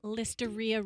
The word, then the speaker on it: listeria: M it's a movement listeria rhymes with diarrhea all right L leria